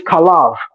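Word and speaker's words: חָלָב: the same word because in Hebrew fat is khalev and milk is kalav only difference is vowel shifting and pronunciation but Allah they're going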